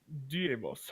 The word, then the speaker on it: Deimos: It's probably Deimos. Deimos, actually. It's Greek.